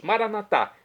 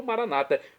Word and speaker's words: Maranatá: E agora eu clamo do aramaico dialeto de Jesus, Maranatá, com a tônica na última sílaba, como dizemos nós católicos, ou Maranata, como dizem nossos irmãos das comunidades evangélicas ou protestantes.